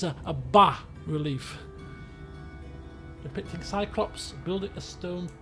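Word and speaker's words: bas-relief: from a previous game you don't pronounce the s so it's a relief depicting cyclops building a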